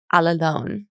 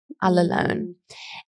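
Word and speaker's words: ἀλλήλων: ago Greek word that is um it's it's pronounced Al alone Al alone and it's it's pretty funny because once you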